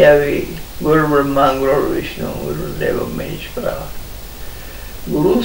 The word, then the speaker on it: ब्रह्म: तभी तो गुरु की महिमा है ना, ये गा रहे थे अभी, गुरु ब्रह्मा गुरु विष्णु गुरुदेव महेश्वरा। गुरु साक्षात पर ब्रह्म, ब्रह्मा नहीं, ये उच्चारण में ब्रह्मा बोलते हो, पर ब्रह्म, ये जो ब्रह्म